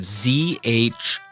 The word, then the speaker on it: zhong: That should be pronounced zhong. Again, we're not singing it, we're not holding it out for too long. We're just making sure that it's comfortably high in our natural speaking voice.